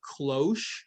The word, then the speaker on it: cloche: One is called a cloche, is typically how it's pronounced, or you can just call it a small tunnel.